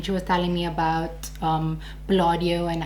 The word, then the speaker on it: Palladio: So she recommended the Palladio, that's how you say it, Palladio, and the Revlon one.